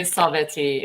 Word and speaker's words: Sabeti: Or it's actually Sabeti is the way you pronounce it.